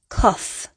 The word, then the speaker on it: cough: This word is pronounced cough, off, cough.